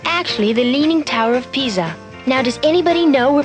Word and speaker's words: Pisa: It's actually the Leaning Tower of Pisa.